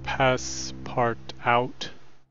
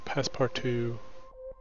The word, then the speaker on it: Passepartout: I was pronouncing it Passepartout, not realizing the last T is silent. It's French, so it's Passepartout, which means frame for painting or picture.